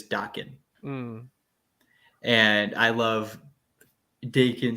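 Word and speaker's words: Daken: you say it like when I first read it I read it as Dakin but apparently people have said it is docking um and I love Dakin slash Dokken I'm gonna go with Docking because I think everybody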